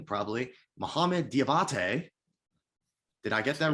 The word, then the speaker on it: Diabate: Different spelling, so I didn't know if that was the correct pronunciation, but I guess I got it. So woohoo for me. Mohamed Diabate, Utah now by way of Gainesville, Florida, of the Florida Gators.